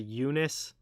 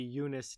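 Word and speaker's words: Joonas: uh donskoi uh i first name i think is said eunice eunice eunice donskoi don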